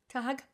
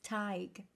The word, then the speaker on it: Tig: to pronounce that, because if I didn't know how this was pronounced, I would be like, Tad Hag? Tag. It's Tig, as in tiger.